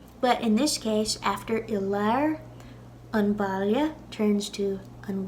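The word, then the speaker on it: i lár: So in the middle is Ilar. Ilar. That's the Ulster pronunciation. Connacht and Munster, it'd be Ilar. Ilar.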